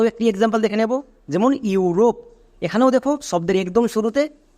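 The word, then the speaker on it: Europe: তাহলে আমরা আরো একটি এক্সাম্পল দেখে নেব যেমন ইউরোপ এখানেও দেখো শব্দের একদম শুরুতে ইউ আছে ইউ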